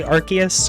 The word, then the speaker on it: Arceus: God AKA Arceus Arceus I'm gonna say Arceus because that's how it is now officially pronounced by the Pokemon company I don't care what